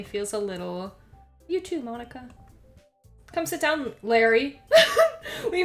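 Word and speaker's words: Monika: like you already know I'm assuming this is pronounced Monica is that right that's right it's great to see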